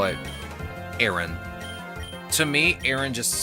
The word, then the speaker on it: Aron: Oh, it's pronounced Aron, like you're pronouncing like a capital letter A. I mean, at this point, I just call it Aaron.